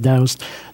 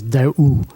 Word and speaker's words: Doust: In Hot Springs, everybody calls me Doust. The correct pronunciation, I'm originally from Canada. I'm now a U.S. citizen. The name originates in France, and the correct pronunciation is Daou, with the ST being silent.